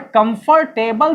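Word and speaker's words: comfortable: समझ में आ रही बात, कंफर्टेबल नहीं, आर का तो आवाज भी नहीं आता, वो तो साइलेंट है। जैसे ऑनेस्ट में एच साइलेंट होता है तो कंफर्टेबल में भी आर साइलेंट हो जाता है और भी लेटर साइलेंट हो जाता है।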